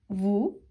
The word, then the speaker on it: vous: ඒක අපි pronounce කරන්නේ vous. vous. V O U S. V O U S.